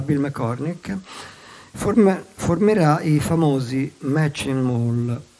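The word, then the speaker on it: Matching Mole: McCormick, formerà i famosi Machine Mall, che pronunciate alla francese viene fuori Machine Mall, vale a dire Soft Machine.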